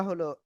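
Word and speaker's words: ح: ওকে তো দেখেন এরপরে আমরা যে অক্ষরটা এখন শিখবো সে অক্ষরটা হলো এই অক্ষরটা। এই অক্ষরের নাম কি? গলার শুরু থেকে এই অক্ষরটা উচ্চারণ হবে।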